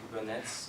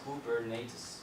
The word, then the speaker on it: Kubernetes: for myself being french i always pronounce it the wrong way they say google nets or whatever so i think proper way is cool bernates if i do mistakes